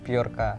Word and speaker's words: Bjorka: Picture Biolka. Bacanya gitu ya? Bacanya Biolka ya? Ya. Tulisannya BJORKA. BJORKA. Biorka.